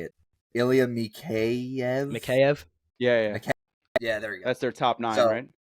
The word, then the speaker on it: Mikheyev: Mikheyev.